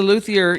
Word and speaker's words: luthier: Is it a luthier? Is that how you say it? Yeah, he's a luthier.